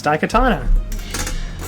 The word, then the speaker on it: Daikatana: Producer Tara, can you pronounce this? No. Daikatana? Perfect. That's exactly it. It's Daikatana.